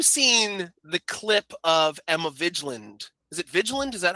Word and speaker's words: Vigland: So, also, have you seen the clip of Emma Vigiland? Is it Vigiland? Is that how you pronounce it? The Majority Report. Vigand. Emma Vigland from the Majority Report.